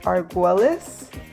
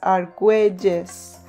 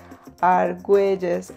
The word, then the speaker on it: Arguelles: And so a lot of English speakers pronounce it as Arguelles, but those who speak Spanish or know of the language know that when they see a double L, it makes a J sound. So in reality, you say my last name as Arguelles, Arguelles, instead of Arguelles.